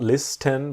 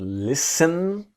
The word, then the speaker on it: listen: to this idea that the T is silent it's not list n but listen to listen to me